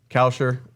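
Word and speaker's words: Kalscheur: he is fun uh coucher is how you say it you know what I'm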